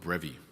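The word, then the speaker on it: Brefi: Okay, a church a senote technically in this case what we call the sinnod of brevy right b ref i the the f pronounced like a v brevy this was a one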